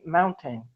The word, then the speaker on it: mountain: so with mountain um this is one occasion in English where we do use the glottal stop before the N so mountain yes yes exactly so matin mountain is correct yes Mountain we do the same thing with button yes yes button mm-hmm